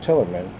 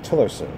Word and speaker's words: Tillerson: Donald comes around Tillerson excuse me I pronounced your name incorrectly a few moments ago Rex Tillerson not till he meant till he was seven